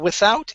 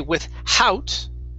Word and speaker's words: without: have the words uh without incident okay so this h okay uh we don't want to say with howt okay it's without so the th uh